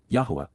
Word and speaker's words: Yahowah: And, YAHOWAH, the proper pronunciation of the name of Eloah, God as directed in